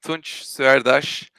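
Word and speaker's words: Tunc Suerdas: you up the trouble it's Turkish I'm Turkish and the name pronounced like tunj sir Dash I know it's not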